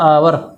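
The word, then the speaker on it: hour: क्योंकि इसका जब हम उच्चारण करते हैं देखो तो इसका एच साइलेंट हो जाता है और वो बोला जाता है आवर।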